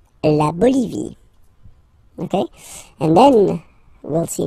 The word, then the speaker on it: Bolivie: La Bolivie. Okay, final E, not pronounced. La Bolivie.